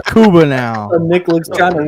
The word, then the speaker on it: Cuba: videos on YouTube of Kuba Cuba Gooding Juniors facial expressions oh gosh that's just Nick mispronounces his name all the time his name's Cuba now Nick looks kind